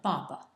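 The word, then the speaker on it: 爸爸: of its pronunciation and it's in the fourth tone and it's Papa B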